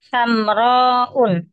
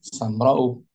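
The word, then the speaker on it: سمراء: Kalau muannas tidak boleh ditanwin. bacanya Sam, bagaimana? samrou, Nah, samra'u. Karena hamzanya bukan asli. Hamzanya zaidah, zaidah.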